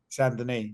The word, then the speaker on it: Saint-Denis: Saint-Denis. That's how you actually say his name, not the way you said it.